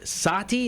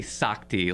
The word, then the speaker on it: Sakti: Sati, is that how it's pronounced? Technically, no. Okay, no, correct me. It's fine. Correct me. All right, nerd, tell us how. I know. So I don't correct anyone, but it's technically Sakti, like a sock you